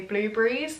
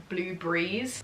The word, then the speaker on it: blueberries: the piss out of the way that I say blueberries, because apparently in this video I say it like blue breeze, as in like blue and then breeze as one word.